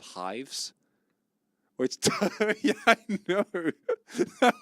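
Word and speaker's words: Hyves: We had our own social media platform called Hives. Which, yeah, I know. That was the name. It was spelled with a Y. It was like beehives.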